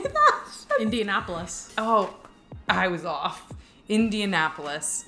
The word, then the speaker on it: Indianapolis: Indianapolis. Oh, I was off. Indianapolis. There you go. Indianapolis.